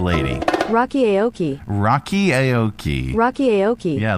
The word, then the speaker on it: Aoki: It's our Pronounceify lady. Rocky Aoki.